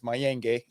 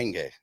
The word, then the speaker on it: Mayenge: My last name is Mayenge, Mayenge. Gotcha. You can check me out Pronounce right there. Mayenge.